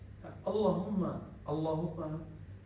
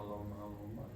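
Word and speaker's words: اللّٰهُمَّ: Maka ketika baca Allahumma, coba baca Allahumma. Jadi jangan cuma Allahumma. Haknya ha besar. Allahumma.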